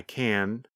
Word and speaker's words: can: When we say the positive form, we pronounce the letter N longer. The N sound, n, n, n, lasts longer than in the negative form.